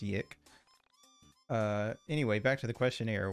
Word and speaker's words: YIIK: No, it's actually pronounced YIIK.